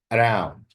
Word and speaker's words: around: Around, around. Also, the stress is on the second syllable.